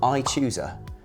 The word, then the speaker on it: iChoosr: It is run by a company in the Netherlands called iChoosr, and they spell it without the E, like Tumblr.